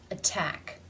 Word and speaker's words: attack: sound which is which the first word the stress falls on the second syllable which is begun with the T sound therefore it is a true t a real T sound attack attack in the second word